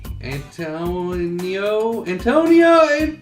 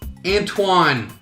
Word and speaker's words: Antoine: I also have a hard time pronouncing names, especially if they're anything French. Ah, stupid French! Louisa? It's Louise, dummy. Antonio? No, that can't be it. It's Antoine.